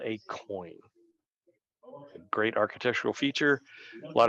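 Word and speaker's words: quoin: mains Corner structure um that term q-u-o-i-n is often uh is pronounced coin as just as in the change that you carry in your pocket a coin um it is pronounced exactly the same but these blocks the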